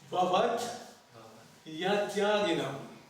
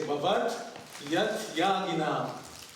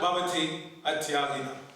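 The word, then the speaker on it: bhavaty atyāginām: So to get the meter properly, you pronounce it Bhavat Yatyaginam. The Y becomes part of the next word. Understand? So you say Bhavat Yatyaginam. Okay? Not Bhavati Atyaginam. Bhavat Yatyaginam.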